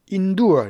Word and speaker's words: endure: 자, 이것은 발음이 and가 아니라 in이에요. endure 이렇게 endure로 발음해 줍니다.